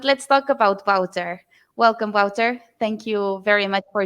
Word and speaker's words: Wouter: sustainability management but let's talk about wouter welcome wouter thank you very much for joining us today